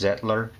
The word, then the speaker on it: Zettler: I'm using the uh I think it's pronounced zetler z e TT l e r and then another thing